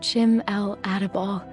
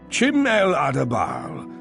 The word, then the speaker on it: Chim-el Adabal: Chords of Chim-el Adabal coming from the balcony above me. Chim-el Adabal.